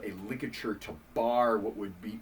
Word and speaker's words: ligature: said that word, and I thought he just mispronounced the word literature. And so I went through like 5th grade calling it a literature. It's a ligature, which is actually a really cool French name.